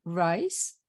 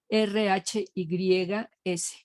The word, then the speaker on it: Rhys: Yo siempre le dije Jean Rice, se escribe R-H-Y-S. Pero he oído que le dicen Rhys, porque su verdadero apellido es Rhys, pero no se escribe así.